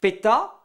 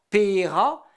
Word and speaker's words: Petra: Le mot "Petra" par exemple. On le prononce ainsi dans le Léon. Dans d'autres endroits, on dit "peta" ou "pera". Dans le Pays Bigouden, c'est "per".